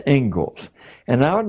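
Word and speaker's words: Inglis: is the Engles lecture looks like English but it's pronounced Engles and I would like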